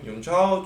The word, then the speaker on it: Jun Chao: Me llamo Jun Chao, Jun Chao. De hecho, me acuerdo que de pequeño intentaba que la gente pronunciase bien Jun Chao.